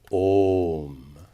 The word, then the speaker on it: Om: So Om is properly pronounced with an extra long O. Om.